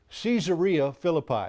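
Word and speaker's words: Caesarea Philippi: background for that statement it was in caesaria Philippi that's the way they pronounce it over there um and it it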